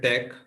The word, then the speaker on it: TeX: writing latch and Tech and it should be pronounced as latch and Tech the default font used is one called computer